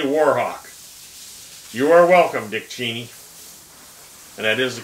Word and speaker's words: Cheney: of a cowardly warhawk you are welcome dick cheney and that is the correct pronunciation of cheney's name arthur belmont osborne iii